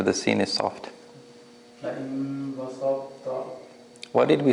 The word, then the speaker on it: بسطت: The ta is not pronounced, right? لئن بسطت. لئن ba sa basarta. لئن بسطت. Because we are merging the ta into the ta, right? لئن بسطت.